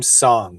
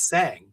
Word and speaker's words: Sang: I will chastise myself for a week if I do not pronounce a person's name right. But Well, I Nat, called her last name Song, so and then she called me out on it.